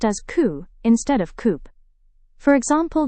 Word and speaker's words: coup: Well, P is silent in many French origin words. Our first word is coup. In Hindi it means takhtapalat. It is pronounced as coup instead of coup.